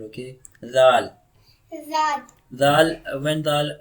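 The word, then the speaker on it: ز: Read za. za, The makhraj of za is tongue near upper teeth.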